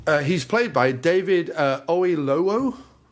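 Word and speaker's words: Oyelowo: Uh he's played by David Oilo. Oilo. Oh, I know. That's how you pronounce it.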